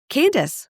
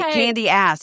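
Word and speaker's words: Candiace: Um, Candace. Candace. Candy. Candace. Sorry. Candy. Candy ass. If you're saying it phonetically.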